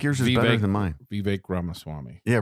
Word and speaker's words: Ramaswamy: Vivek Ramaswamy. Yeah, Ramaswamy. It's Vivek. I think it's actually Vivek. It is Vivek. So it rhymes with cake.